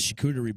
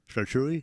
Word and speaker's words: charcuterie: She rocked out this charcuterie board for us for St.